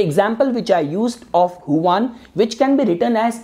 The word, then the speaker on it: Juan: as Huan, so Huan, you might spell your name as Juan, but it is pronounced as Huan.